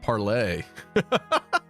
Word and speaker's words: parley: Do some people pronounce it like that? Parley. You know, according to Pirates of the Caribbean, Curse of the Black Pearl. I thought it was I thought it was pronounced Parlay. Maybe the point is that they pronounce it wrong in that movie cuz they're pirates, though.